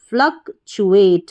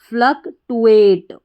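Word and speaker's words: fluctuate: अगर आपको सही उच्चारण नहीं पता होगा तो इसको पढ़ देंगे आप फ्लक्टुएट। क्या पढ़ेंगे? फ्लक्टुएट, इस तरीके से। तो इसका सही उच्चारण आपको लेना है, सही प्रोनाउंसिएशन फ्लक्चुएट।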